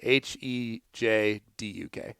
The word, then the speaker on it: Hejduk: Hejduk. Oh. The J is silent.